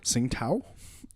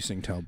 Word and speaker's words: Tsingtao: Tsingtao. Yeah. Thank you, Tsingtao beer. Because it's pronounced with a T.